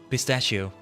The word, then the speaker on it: pistachio: I have been saying it wrong all this time. It is a soft ch. Pistachio.